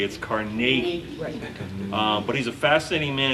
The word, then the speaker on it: Carnegie: New Yorker so smiley we call him Carnegie yeah you go to his burger Scotland they pronounce it correctly it's Carnegie but he's a fascinating